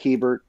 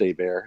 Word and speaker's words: Hebert: the name looks like Hebert or Herbert but it's pronounced a bear it's a Louisiana thing and I have been